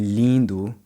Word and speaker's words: lindo: Let's take a look at another word, lindo, beautiful. When I say the lin in lindo, my tongue never touches the roof of the mouth like it does in Spanish. Lindo.